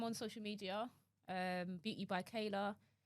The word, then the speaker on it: Chaela: Beauty by Kayla. Kayla is spelled CHAELA.